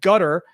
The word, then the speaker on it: Qatar: Now, I don't really care how you pronounce Qatar because the way we were taught in graduate school at Georgetown with the foreign service degree, which is like kind of the best program in the world, was actually to call it gutter, but I'm not really comfortable calling it gutter, so I call it Qatar.